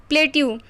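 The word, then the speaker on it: plateaux: एक्स लग जाता है, पर उसका प्रोनाउंसिएशन दोनों का सेम ही होता है, प्लेट्यू। डिक्टम मतलब सिद्धांत होता है, और डिक्टा उसका प्लूरल होता है।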